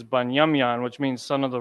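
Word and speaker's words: בנימין: does that make sense so bunyamian is how you write down the name Benjamin the name Benjamin is banyamyan which means son of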